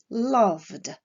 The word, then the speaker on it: loved: Le verbe love se terminant par un son sonore, la terminaison ed se prononcera d, loved.